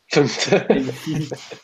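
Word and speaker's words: fmt: Pronounce, like, there's like, in the docs, it'll say pronounced FUMT. FUMT.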